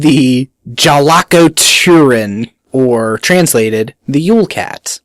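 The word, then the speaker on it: Jólakötturinn: well that's just it Icelandic pronunciation is kind of like Russian where you have those funky letters and you have no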